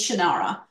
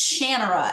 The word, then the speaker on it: Shannara: who introduced me to the series was always Shannara. So we always said it, and then I start listening to the audiobooks, and it's Shannara, and nope.